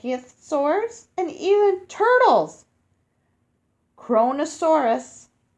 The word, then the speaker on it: Kronosaurus: creepy all right you say it like this kronosaurus kronosaurus kronosaurus was a giant that hunted the